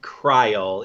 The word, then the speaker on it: Krile: how they're pronounced but since since it's spelled the same way as like vile vile smile I think krile is is the most correct yeah at least English